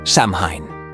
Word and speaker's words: Samhain: As summer turned into fall, the Celts celebrated a festival called Samhain, pronounced So-in.